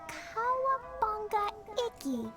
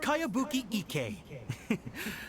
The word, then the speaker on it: Kayabuki Ike: By Kawabunga Iki. Cowabunga? Yeah, this is a What? really strange name. Cowabunga, It's Iggy. Cowabunga. It's pronounced Kayabuki Ike.